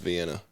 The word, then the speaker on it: Vienna: and cooked me some veiny weenies that's amazing if you ain't had cooked by any weenies I can't say that I have see we I haven't also it's pronounced Vienna Vienna sausages he's from Arkansas he